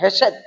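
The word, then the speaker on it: חסד: लिखा हुआ है करुणामय, वो इब्रानी शब्द है हेशेद और खेशेद भी बोलते हैं। दो अनुवाद उसका, दो तरह से उसका उच्चारण किया जाता है, कोई हेशेद बोलता है, कोई खेशेद बोलते हैं।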